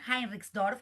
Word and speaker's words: Heinrichsdorf: Entonces, nuestro próximo invitado es Kai Henriksdorf, ahí lo pronuncié bien, Heinrichsdorf, para hacer mejor la pronunciación alemana.